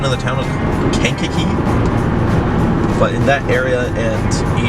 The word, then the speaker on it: Kankakee: There's definitely a lot going on yesterday, and there was some devastating stuff in, I believe the correct pronunciation of the town is Kankakee, but in that area and eastward of it, it looked pretty devastating.